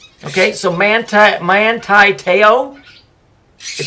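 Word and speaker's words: Te'o: His name is Manti Teo, or Teo. Okay, they're pronouncing it Teo, so I'm going by their word.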